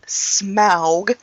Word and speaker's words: Smaug: The Hobbit, The Desolation of, I hate how they pronounce it, Smaug. No, I'm sorry, I'm American. It's Smog. Smog.